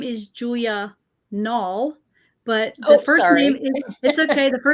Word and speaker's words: Nalle: anyway and then nulls rhymes with small and Tall my husband's tall I'm